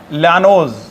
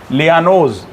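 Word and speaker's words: Llanos: लानोस यह grass लैंड इनको कहते हैं लानोस एल आई ओ एल आई ए लियानो इनको लियानो बोला जाता है हम लोग सामान्य भाषा में लानोस कह देते हैं लेकिन सही मायने में इनका स्पेलिंग है लियानो है ना तो आप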